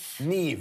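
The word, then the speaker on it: Niamh: John it's it's NE Neeve yeah cuz the MH always makes a v sound a verse sound right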